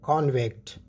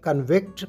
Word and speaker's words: convict: इस लफ्ज़ को जब आपने वर्ब के तौर पर इस्तेमाल करना हो तो ये कन्विक्ट प्रोनाउंस होगा, और जब बतौर नाउन इस्तेमाल करना हो तो कॉन्विक्ट प्रोनाउंस होगा, कॉन्विक्ट।